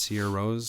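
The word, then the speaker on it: Sigur Rós: Sigurros, but it's pronounced Sia Rose.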